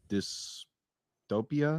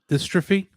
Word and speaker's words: dystrophy: He suffered from type 2 melatonin muscle dystopia, I believe it's pronounced. Dystrophy.